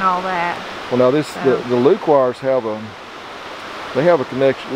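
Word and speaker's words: Lequire: And when you were talking about, I would say Lequoir, so I'm saying it wrong. How did you say their name? Well, I'm just saying it the way that I grew up here. Lequoir. Lequoir, yeah.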